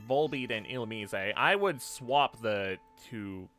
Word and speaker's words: Illumise: Not great that they can spawn above the water, those Volbeat and Illumise. Some people pronounce it Illumise. I don't know, I've always pronounced it Illumise just because it honestly, it sounds more French.